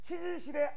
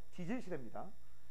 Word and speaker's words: 지질시대: 발음 조심하세요. 치질시대 아니죠. 지질시대입니다.